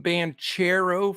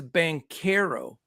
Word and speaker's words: Banchero: this league and I I called him band chero for a while but it is bankero okay and he's Paolo